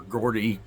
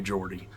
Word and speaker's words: Geordie: The guy who invented the quantum computer, the D-Wave quantum computer, said that, Geordie Rose. Or Gordy, some people say Gordy. It's spelled like Gordy, but I say Geordie, because that's how I've heard him pronounce it, but that's neither here nor there.